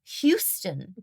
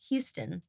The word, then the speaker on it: Houston: As in the name Hugh as in Hugh Grant. Houston.